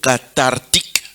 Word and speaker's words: cathartique: On écrit TH, mais on prononce the, n'est-ce pas? Alors, cathartique, ou cathartique si vous voulez.